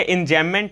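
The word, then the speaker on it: enjambment: Grammar में क्या है कि बी से एम से पहले अगर बी आता है तो हम लोग बी को नहीं प्रोनाउंस करते हैं, तो ये इंजैममेंट है।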